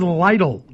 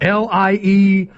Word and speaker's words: Lytle: No, my name is Lytle. Lytle. And by the way, I wish it wouldn't, because every time somebody sends a piece of hate mail about me, they always say his name is Lytle, like Lytle, and they print out LIE-TELL.